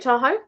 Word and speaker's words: Tahoe: How do you pronounce her name? Lake Tahoe.